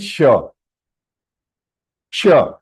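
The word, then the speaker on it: ष: Second, ra and sha. Sha, murdhanya. That means whenever we are pronouncing this sha, the tongue has to touch your hard palate above.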